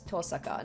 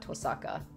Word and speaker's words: Tosaka: Oh, I've been pronouncing her last name wrong too. It's Tosaka, not Tosaka. Tosaka.